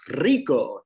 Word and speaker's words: rico: a lot more accurate if you can actually roll the aura rico do you know how